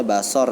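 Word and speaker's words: بصر: ada sifat basor basor dibacanya basor ya tulisannya bazaar Apa sifat Basori itu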